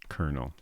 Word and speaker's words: colonel: Colonel. Is there another way to say kernel?